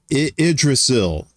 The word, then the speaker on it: Yggdrasil: She said, Yggdrasil is how you pronounce that.